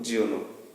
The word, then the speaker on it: Giono: লেখকের নামটা JEAN উচ্চারণটা যা করতে পারো, JEAN যা বা জ, আর GIONO এটা বলতে পারো জিওনো।